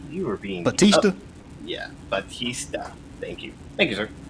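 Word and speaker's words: Bautista: John Ballista, I think I actually said this last name wrong. Um, is really, buddy, you were being Batista. Yeah, Batista.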